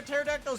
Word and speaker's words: pterodactyl: Why can't you hear a pterodactyl's urination? The P is silent.